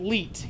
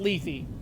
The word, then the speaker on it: Lethe: Yes, it's actually Leet, not Lethe. Lethe is the stupidest fucking pronunciation for that I've ever heard because that is not an English goddamn name. If I recall correctly, Leet is Latin, but I could be wrong.